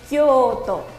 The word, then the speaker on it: Kyoto: Kioto, bien pronunciado en japonés, es Kyoto.